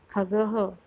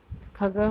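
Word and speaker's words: खगः: तो खग, उसका उच्चारण हम कैसे करेंगे खगह, खगह मतलब पक्षी।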